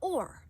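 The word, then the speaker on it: אור: When we look at the word light in Hebrew, the word for light is or. So in English you would spell it O-R.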